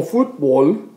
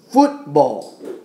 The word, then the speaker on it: fútbol: Entonces, estamos poniendo más énfasis en la U aquí. Entonces es fútbol, no fútbol.